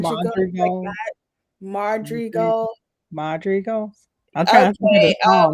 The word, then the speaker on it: Madrigal: Is it what, how do you pronounce the do you remember how to pronounce the family name? I think it's Madria Madrigal, like Madrigal that. Madri Madrigal. Madrigals?